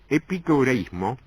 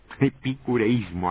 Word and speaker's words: epicureísmo: pico turismo y pico el epicureísmo epicureísmo aquí se pronuncia era una filosofía que